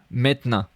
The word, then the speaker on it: maintenant: Now, maintenant. I wrote it like this. Maintenant. Because the E is really not pronounced.